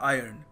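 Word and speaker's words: iron: सो आपको ध्यान रखना है कि इसको सही तरीका है प्रोनाउंस करने का आयरन।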